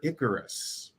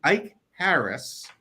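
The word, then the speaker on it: Ikaris: in that movie they kept calling a character Icarus do you know how the character's name is supposed to be pronounced icaris I would guess by the K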